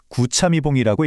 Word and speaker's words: 구차미봉: 이걸 어떻게 읽냐면 인순고식 구참이봉이라고 읽어요. 조선 시대의 위대한 학자 박지원의 말에서 따온 건데요.